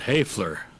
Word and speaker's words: Hoeweler: He finally said, "Hoeweler," which is the German pronunciation for Hoeweler.